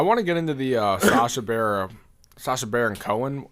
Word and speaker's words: Sacha Baron Cohen: I want to get into the Sacha Baron Cohen.